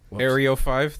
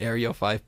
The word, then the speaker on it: eryo5: the recent radio interviews aerio 5 that's what it's called everyone calls it aerial 5 but it's eryo5 i believe it is